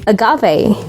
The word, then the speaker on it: agave: In American, it's pronounced as agave, and for British, it's pronounced as agave.